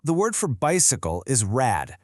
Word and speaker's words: Rad: Because that D in rad is at the very end of the word. It sounds like a T.